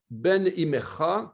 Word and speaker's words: Ben Imecha: On prononcera alors l'expression Ben Imecha comme un seul et même mot, Ben Imecha. Voilà, je l'ai mis ici. Bon, c'est une erreur, hein, on n'écrit pas ça comme ça, hein, mais on la prononce comme ça, Ben Imecha.